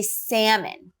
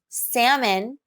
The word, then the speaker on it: salmon: terms of spelling but in american english we do not pronounce the l in salmon you can think of it as a silent l we say salmon open